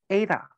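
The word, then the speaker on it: Eta: Because the pronunciation, you see the pronunciation is Ada. So A like H.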